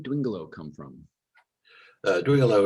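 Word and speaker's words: Dwingeloo: yes yes um thanks in english it's sometimes pronounced during a lou and the press release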